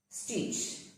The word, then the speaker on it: stitch: Stitch. Catch. Watch. Sketch. Stitch. The T is silent.